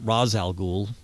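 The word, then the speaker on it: Ra's al Ghul: question question with um I've always pronounced it Raz al Ghul yeah I know a lot of people pronounce it I pronounced well on the Animated Series now they're pronouncing it completely different they're saying like uh I can't even think of it off the top of my head it's something like Roz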